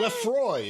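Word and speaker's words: LaFroy: an article by Emily Lafoy. Is that how you say it? Lafoy? Lefroy, excuse me. Capital L, small a, capital F.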